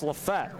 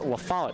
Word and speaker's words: LaFollette: for the Regents and Bryce lafete the freshman from Lafayette Illinois took myself on the pronounciation breast LaFollette excuse me so a one-yard run